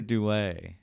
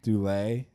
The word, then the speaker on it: Dullea: Keir Dullea. Dullea. I pronounce it as Dullea, yeah.